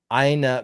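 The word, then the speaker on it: eine: one beer please you pronounce that you pronounce the e uh you pronounce the end of the word so it's aina beer bitter aina okay i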